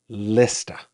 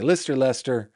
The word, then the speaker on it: Leicester: But I said, how do you pronounce the name of this town? And she told me, Lista.